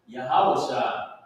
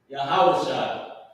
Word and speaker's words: Yahawashi: all right so this word right here is pronounced yahawashi yahawashi and this name is